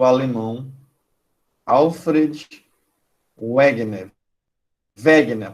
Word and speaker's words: Wegener: Wegener, a pronúncia correta dele é alemão, é Wegener. Alfred Wegener. O W aí com som de I. Em alemão, o W tem som de V.